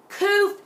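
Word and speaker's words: Qoph: Some spell it K-O-O-F, but Kuf is just koofy, okay?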